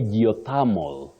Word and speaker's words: geothermal: will moving to this other one let me spell it out g e o t h e r m a l how do we pronounce that one Willis oh you say geothermal geothermal so what we should avoid is Thal